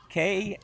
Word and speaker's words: Knipe: We're going to have to see how that one's pronounced when they say it here. Kanipe. That's how you spell that one.